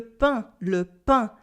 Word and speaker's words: pain: We can say le pain, and feel the air going through my nose.